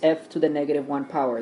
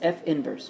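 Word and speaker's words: f⁻¹: okay so remember this you do not pronounce f to the negative one power that's incorrect it's f inverse okay so we're looking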